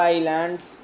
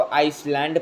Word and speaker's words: island: Then the Andaman एंड Nicobar आइलैंड्स, बहुत बच्चे इसको आइसलैंड पढ़ते हैं, सो इट नॉट the correct pronunciation, it's called आइलैंड, आइलैंड।